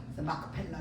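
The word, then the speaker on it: מכפלה: 히브리어를 정확하게 표 이렇게 발음을 하면 이게 맞는 발음이에요 마크 펠라 그래 장사를 하지요 그리고 세 번째는 입주하게 아내를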